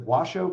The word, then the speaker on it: Washoe: Using centers of population instead and look at I think they pronounce it Washoe County in in Nevada, where Reno is located very long north to South.